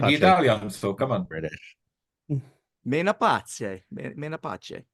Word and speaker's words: Menapace: Menapace. That's how you would say it in Italian, assuming he is an Italian national.